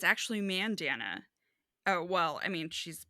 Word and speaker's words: Mandanna: ma man it's actually Mandana oh well I mean she's British so she says I pronounce Mandana so that it rhymes with bandana God it's like she